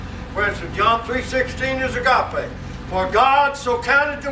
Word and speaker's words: agape: It's spelled this way. A-G-A-P-E.